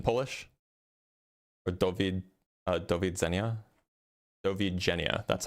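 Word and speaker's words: do widzenia: Dovi Jenna, that's how it's pronounced.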